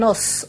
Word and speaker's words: os: au pluriel lorsqu'on dit un os un os au singulier donc on prononce s au pluriel des os euh un bœuf des